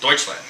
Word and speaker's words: Deutschland: land said Germany yes Deutschland that's the German pronunciation of Germany yeah is dut but